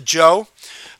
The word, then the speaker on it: Zhou: 1100 BC a group of people called the Joe pronounced jo e live in northwest China and they